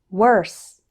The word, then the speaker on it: worse: The letter O in these words isn't pronounced like O. Instead, WOR sounds like were. Let's practice. Word, work, worse, world.